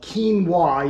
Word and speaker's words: quinoa: really weird you may not know how to pronounce it it's called quinoa even though that's it looks kind of funny